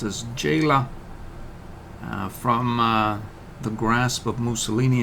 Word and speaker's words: Gela: It's We're going to liberate what is pronounced as Gela from the grasp of Mussolini and company.